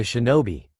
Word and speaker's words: shinobi: This is interesting and all, but still I failed to see how you're being a shinobi.